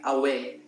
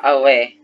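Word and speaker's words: aweh: tell you again so like a real south african greeting is just like away you say yeah away so it's spelled like this oh wait is it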